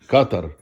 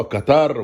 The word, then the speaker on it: قطر: العالم، يعني يصلحوا نطقهم لكلمة قطر بدل ما كانوا بيقولوها قطار. وكنت انا بقعد اتريق اقول قطار ايه؟ قطار السريع ايه؟ القطار ده قطر. قعدوا يعلموا بعض ويجيبوا برامج هنا يقولوا لبعض ده اسمها قطر، على فكرة ما اسمهاش قطار، اسمها قطر.